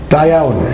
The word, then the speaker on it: Da iawn: And similarly, when I was in Wales, there's an exclamation that you use, if you would pronounce it for me, the poem that I wrote for Merere. Da iawn.